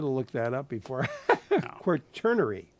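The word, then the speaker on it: Quaternary: time periods and we were the fourth the quturnary. So, oh, and I was pronouncing it wrong, too. So, I should have looked that up before. Quernerary.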